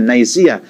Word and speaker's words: Nicaea: mula sa Council of Nicaea, no, ang Nicaea, Nicaea, no, ang right pronunciation Nicaea, the Council of Nicaea.